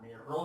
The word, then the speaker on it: rho: Rho ini bacanya rho itu massa jenis, G kali H.